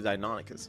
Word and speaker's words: Deinonychus: And by the way, you guys, that's actually how you say it. I remember I had to Google it the first time. I thought it was Deinonychus, but it's actually Deinonychus.